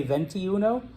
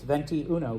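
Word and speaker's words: veintiuno: it comes to pronunciation you don't have to say dainty Uno if you just literally say venti Uno like you're ordering a venti nine times venti Uno venti goes it actually sounds Spanish it comes out right all right so when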